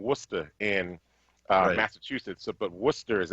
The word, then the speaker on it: Worcester: It's like saying Worcester in Massachusetts, but Worcester is actually spelled Worcester.